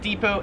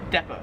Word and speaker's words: depot: 32 is depot. So yeah, Americans, we pronounce it depot. In Australia, they pronounce it depot.